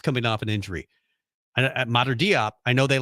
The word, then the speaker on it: Diop: How do you pronounce it? Diop.